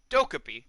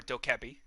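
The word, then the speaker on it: Dokkaebi: Zofia sledge thermite and dhoka P or doke Abbey depending on how you would like to pronounce it on attack I would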